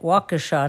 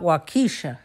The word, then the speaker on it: Waukesha: and I finally learned how to say the name right Waukesha not wakisha yes right there is